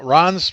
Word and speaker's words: Ran: let's go to ran Ron's restrictions I know it's pronounced it's pronounced Ron spelled ran just the way it is all right go ahead